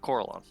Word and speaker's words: Corellon: Yeah, I'll just do Corellon.